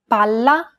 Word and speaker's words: palla: Imagine that you're holding that consonant sound for one extra syllable. Palla, palla. Many learners do not hold the sound for long enough, so when in doubt, pronounce it a little longer than you would normally.